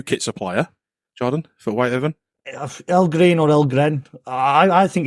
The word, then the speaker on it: Ellgren: I think it's El Green, but like you said, there's an E missing over these, isn't there? So yeah, I think it's El Green. That's El Gren.